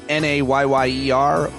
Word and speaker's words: Nyyera: It's hard to pronounce the way that she spelled her Instagram handle, but it's Nayyeroar.